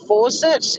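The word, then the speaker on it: Forcett: little town of fawcett's it's not fawcett like attack f-a-u c-e-t no bull horse three dollars a bag anyone need any more three bucks a bag yeah it's not force it like a tap but it's pronounced the same way blink and you'll miss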